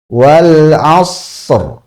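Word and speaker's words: والعصر: Nah, huruf ro sukun ini cara bacanya adalah sempurnakan dulu ee huruf shad sukunnya. Shad sukunnya ini sempurnakan dengan hamsnya karena punya hams juga. Wal as wal as. Nah, setelah itu baru ro. Wal asr.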